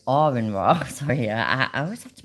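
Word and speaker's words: Aron Ra: but I watch Aurin, it's not Aaron, Arin Ra.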